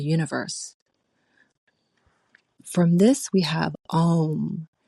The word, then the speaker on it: Om: From this we have Om, spelled A-U-M, but often pronounced and spelled as O-M, Om.